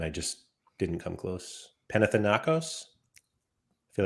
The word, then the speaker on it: Panathinaikos: Panathinaikos? I feel like I'm missing a syllable. Panathinaikos? I think it's just Panathinaikos.